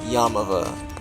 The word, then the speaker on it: Yaamava': Earth's gonna be at your mava hotel resort and casino or better pronounced yam of a San Manuel San Bernardino